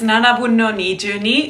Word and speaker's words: Nanabun no Nijuni: Next up is Nanabun no Nijuni.